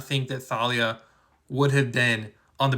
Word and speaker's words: Thalia: All right, this comment says, "If Talia, you didn't really spell it right. It's actually there's an H in there. It's pronounced Thalia.